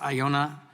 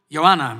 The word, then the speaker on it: Ioana: Our second witness is Professor Iona Marinesko. Did I pronounce that correctly? Ioana Marinesko. Professor Marinesko currently serves as